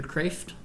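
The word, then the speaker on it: Kreeft: It is by Peter Kraft. Yep. I believe is how you pronounce his last name.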